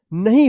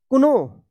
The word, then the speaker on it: know: कुनो, कुनो। ये गलत हो जाएगा, इसका सही उच्चारण होगा नो।